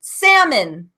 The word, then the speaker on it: salmon: else sounds like when an L is silent and you don't even hear it like in the word salmon the fish that you eat or the color so